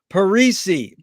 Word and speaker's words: Parisi: a pleasure to be here today with parisi is that right that's correct perfect no one has ever pronounced it that perfectly uh where in the